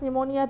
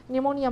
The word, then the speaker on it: pneumonia: told you last class pneumonia the P is silent when the P is followed by n the P is silent pneumonia man algebra we saw